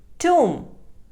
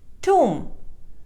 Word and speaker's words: tomb: heart r is silent tomb it is mispronounced as tomb or tom the correct pronunciation is tomb b is silent wednesday it is mispronounced